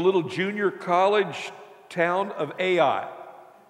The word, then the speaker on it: Ai: The next opponent on their schedule was the little junior college town of Ai. It's spelled A-I.